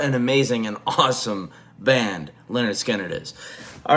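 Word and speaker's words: Lynyrd Skynyrd: Guys, today we are covering their debut studio album, Pronounced Leonard Skinnard.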